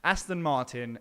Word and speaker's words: Aston Martin: tracks here is it does it rhyme with Gaston Barton Gaston Barton okay and bobber it just so happens it does actually that is correct Aston